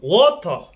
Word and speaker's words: water: Water. Water. Water. Oh, water. Water. Yan, yun ang tamang bigkas.